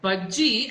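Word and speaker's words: Bhajji: And तो यहाँ पे भी महाराष्ट्र में भी भाजी बुलाते हैं, बट मैं भाजी नहीं हूँ, मैं बज्जी हूँ. So you're close. Bajji actually, so why they say hot bajji is because bajji is basically pakode in Tamil.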